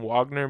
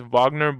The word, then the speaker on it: Wagner: can make a custom Wagner because he and his name's not Wagner it's Vagner but you know for Jersey